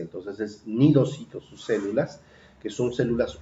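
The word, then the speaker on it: cnidocitos: La C antes de la N no se pronuncia, por eso es que se dice nidarios cuando se escribe C nidario o C nidocitos, no se pronuncia la C, entonces es nidocitos sus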